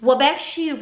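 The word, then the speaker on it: Waubgeshig: of the Crusted Snow by Wabeshi Rice. That's how I've seen it pronounced.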